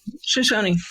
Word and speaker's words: Shoshone: guys are part of the show showns correct Shoshone Shoshone that's how you say it what is the Shoshone